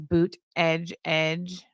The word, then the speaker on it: Buttigieg: in their campaign headquarters, they painted on the wall how to say Buttigieg phonetically. So it was boot, edge, which is pretty close.